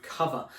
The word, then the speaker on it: Cuvva: And I saw a couple of weeks ago when I was in there was an advert for a company called Cuvva. It's spelt C-U-V-V-A if you want to go and have a look at them, and they provide temporary cover for car insurance.